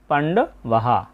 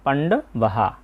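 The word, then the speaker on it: পাণ্ডবাঃ: তাই এখানে হবে ধনুর উদ্দিয়মিয় ধনুর উদ্দিয়মিয় এবং এই লাইনে সর্বশেষ শব্দ হচ্ছে পান্ডবাহা বাক্যের শেষে বিসর্গ থাকলে সেই বিসর্গের উচ্চারণটা পুরোহের মত হয় তাই হবে এর উচ্চারণটা পান্ডবাহা প্রবিত্তে শস্ত্র সম্পাতে ধনুর উদ্যমীয় পান্ডবাহা আমরা দুইটা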